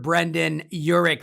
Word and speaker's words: Brendan Yurik: today is the ceo of electric royalties mr brendan urich brendan how are you i'm doing great thanks